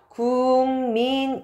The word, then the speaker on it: 국민: 예시를 한번 들어 볼게요 국민이라는 단어가 있습니다 근데 실제로 우리가 발음을 할 때 할 때는요 자 기억이 요렇게 이응으로 바뀝니다 그러면서 발음이 요렇게 발음이 되거든요 그래서 궁민 요렇게 발음이 됩니다 자 그러면 도대체 어떤